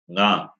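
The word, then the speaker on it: ङ: this class, which is nga. When you say nga, the sound comes from the throat as well as nose.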